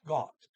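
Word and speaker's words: godt: goot but there's a d there so it's pronounced got because there's a two consonants it goes to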